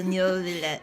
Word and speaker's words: Neuvillette: Wait, so Neuvillette. Come on. Okay, that's how you pronounce it.